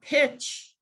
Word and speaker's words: pitch: you have three and in the word pitch did you say three or four it's three yeah but studies have shown that adults have a harder time with phoneme segmentation when they've already learned to spell and get influenced by the visual image in their brains of the spelling so you think that pitch must have a sound in it but the tch is